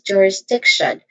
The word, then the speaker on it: jurisdiction: in the beginning j then wrist which has a short e vowel sound d which is also has a short e vowel sound and then t i o n. How do you say t i o n? Sean get shan with the sound. All in all this is jurisdiction where this primary stress on the is on the third syllable.